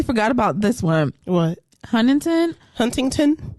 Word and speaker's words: Huntington: wait I totally forgot about this one what Huntington Huntington it's not hunting I'm not saying hunting Huntington it's not hunting it's just you're asking for too much it's Huntington it's Huntington please take out the tea double